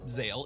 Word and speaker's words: Zexal: Zexal, or Zale if you prefer the original pronunciation, is where things start to get fuzzy.